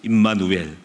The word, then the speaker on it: 임마누엘: 그런데 조심할 것이 누엘을 빼면은 안 돼. 임마가 되거든. 임마하고 누엘 그러면 큰일 나니까 여러분이 말을 잘해야 돼. 확실하게 발음을 정확하게 임마누엘.